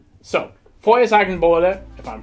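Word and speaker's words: Feuerzangenbowle: school with a classic german mulled wine recipe foia sagan both hoya zangbol foyer zagon bowl fire zagging bowl sagging bowl literally meaning fire tongs punch let's get going so so foy sagan boiler if i'm pronouncing that correctly is uh a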